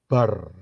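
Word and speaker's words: בר: Be dan rest itu kalau dijadiin satu itu bacanya bar bar itu adalah Son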